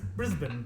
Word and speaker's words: Brisbane: See, we would say Brisbane because we pronounce No, all that's the incorrect. Brisbane.